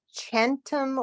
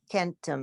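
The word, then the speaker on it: centum: Duo at today's uh is this chantum or kentum because it's there's no AE yeah shorty no the C is it oh sorry it's a soft C yes numerous test numerous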